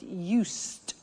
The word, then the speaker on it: used: listen to the pronunciation I said used with t sound used not used or